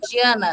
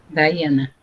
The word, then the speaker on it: Dayana: É Diana que se pronuncia? Tá correto? Dayana. Dayana. Eu tinha acertado e comecei a errar. Às vezes a gente começa certo e termina errando.